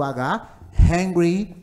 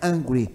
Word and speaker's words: hungry: estou com fome lembra da aula passada a pronúncia do Hungry Hungry angry angry High englisson de Ha he he sou